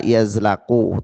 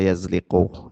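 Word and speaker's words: يزلق: Alla yazliqu an manarihim. Ini ada yang memberikan harakat itu alla yazlaqu tapi saya lebih cenderung membacanya yazliqu.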